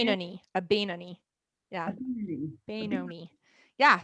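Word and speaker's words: Beinoni: I guess we're all supposed to try to become what's Bonimi? How do you say it? Benoni, a Benoni.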